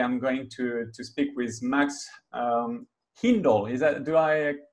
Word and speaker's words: Hindle: Hi everyone, the founder of WeekPlan, and today I'm going to speak with Max Hindle. Is that, do I pronounce it yeah, well?